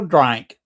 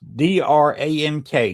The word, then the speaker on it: Drank: They have a special drink and it's pronounced D R A N K. Drank, not a drink.